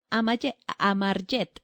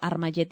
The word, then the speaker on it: Amarjet: Amarjet, estoy pronunciando más, estoy diciendo Armayet y es como Armageddon.